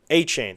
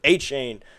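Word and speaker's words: Achane: A chain.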